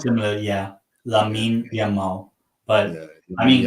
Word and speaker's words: Lamine Yamal: Because and I don't want to say his name because I always mix the L with Y. Which is it first? Is oh, it Jamal. okay? So it's Lamine Yamal, Yeah, not Yamin Lamal.